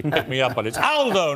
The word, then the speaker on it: Aldo: me up on it Aldo not Alo Aldo is a very British pronunciation of an Italian uh good to see